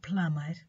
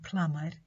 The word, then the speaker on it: plumber: And also B is silent in some words like thumb, lamb and plumber. Thumb, lamb and plumber.